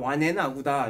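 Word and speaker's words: 完顏阿骨打: 완안 아골타라고 하는데 중국 발음으로 하면 완앤 아구다 이렇게 표현을 하는데 이 사람도 뭐겠어요?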